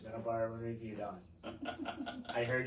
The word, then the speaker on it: Middleboro: this is middleb and review it is it's midd bar and review on I heard you the first